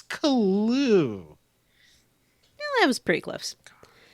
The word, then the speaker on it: Caillou: Yeah, Caillou. I knew she was saying it wrong. Caillou. Oh, I like Kalu. It's Kalu.